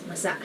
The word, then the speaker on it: masa: mamasa masa meaning moist You have to be careful of the accents here because masa means moist but there's another word spelled the same called masa which means the masses so masa and masa so just be careful to say it as masa mamasa masa for example